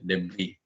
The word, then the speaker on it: debris: Debris. Okay. Silent S daw.